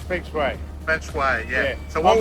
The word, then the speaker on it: feng shui: He's a Greek and Italian trying to pronounce a Japanese word, right? It's Feng Shui.